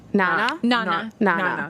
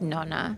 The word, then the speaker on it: nonna: Nana. Yeah. That's the Italian way of saying I think grandmother. people actually like the real Italian is like nonna.